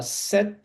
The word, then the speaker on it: cet: Só que você vai pronunciar esse T ligando o som aqui, então eu falo cet automobile.